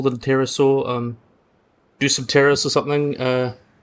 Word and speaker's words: Dsungaripterus: Dsungaripterus or something. Dsungaripterus, that's what its name is, yep. I'm stuck with the pronunciation sometimes.